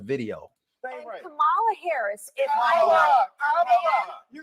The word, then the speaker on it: Kamala: Well, speaking of mispronouncing Kamala's name, take a look at this wild video. And Kamala Harris, if Kamala, you said this when I called you Nancy.